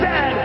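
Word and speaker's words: zed: tester field is a coach and it is pronounced zad not z z Canada is the second Wiest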